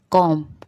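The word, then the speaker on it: comb: कॉम, कॉम जब बोलते हैं तो कॉम्बर नहीं बोलते हैं, कॉम बोलते हैं, तो ये बी साइलेंट।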